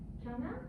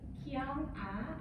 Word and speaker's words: KyoungAh: It's KyoungAh. And then it's like, maybe it's hard to remember too. It's like K, maybe I'm from South Korea. K, and then Young, maybe I look younger than my age.